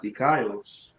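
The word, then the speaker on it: δίκαιος: It be pronounced dikaios.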